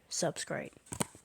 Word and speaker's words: Subscryte: This is the planet 7675Y sector Subscryte. That is how you pronounce it.